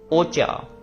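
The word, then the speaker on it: お茶: ओकाशी ओकाशी ओकाशी ओकाशी snake then T टी को कहते हैं ओचा ओचा यहां पे देख रहे हो ची के साथ छोटा सा या तो च बन गया।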